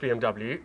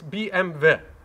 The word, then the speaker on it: BMW: you can see bmw in german is not pronounced bmw it's bmv if you can insist that i call this